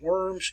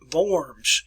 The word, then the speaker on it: Worms: starts this word is w's are pronounced as v so it is vorms so it's the deet